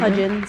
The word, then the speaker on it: Hudgens: Shetty officiated Vanessa Hudgens. Is that how you say it? Hudins.